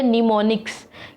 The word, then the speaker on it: mnemonics: मैंने क्या बोला, आप फिर से सुन लीजिए, निमोनिक्स। किसी को बोलने में प्रॉब्लम आ सकती है बिकॉज यहाँ पर जो एम है वो साइलेंट है, इसलिए तो इसको क्या बोलेंगे? निमोनिक्स बोलेंगे।